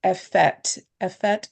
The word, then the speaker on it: effete: And I had to look up that word, effete and godless. Effete it's pronounced.